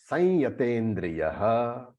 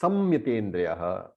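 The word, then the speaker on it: संयतेन्द्रियः: Some people also pronounce samyatendriyaha. Either way, it is okay. We do sanyatendriya because the anuswara, the dot on the top, is followed by a ya, and usually the chanting becomes the sign.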